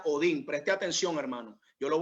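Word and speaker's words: ὠδίν: Ahora bien, la palabra dolor, amén, o principio de dolores, la palabra dolor es una palabra griega, amén, que se pronuncia Odín.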